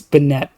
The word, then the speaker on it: Banette: See, I was going to say uh it's it's banette.